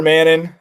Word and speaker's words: Manon: don't we call her Manon um because it's spelled mannon but it's Mano um I think that's